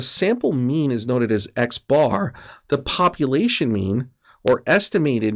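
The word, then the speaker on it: x̄: over the top and that's going to be pronounced x bar i like to joke around that you know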